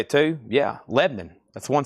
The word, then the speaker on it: Lebanon: Here it's commonly known as Lebanon. It's Lebanon, Tennessee. It's one syllable.